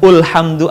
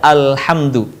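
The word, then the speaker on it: الحمد: Perhatikan, bukan ulhamdu atau ilhamdu, tapi dibaca alhamdu.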